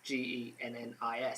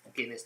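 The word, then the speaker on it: Ginnis: It's just Gennis. It's not the Guinness like the drink.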